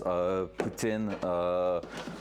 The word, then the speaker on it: poutine: Like our really like Quebec-based meal is poutine, like just like you will pronounce the president of Russia, I guess, but like it's way better than him.